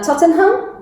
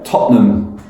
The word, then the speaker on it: Tottenham: Tottenham. Tottenham. There is a trick there. Tottenham. Yeah. That's good to know. I didn't know that. Tottenham.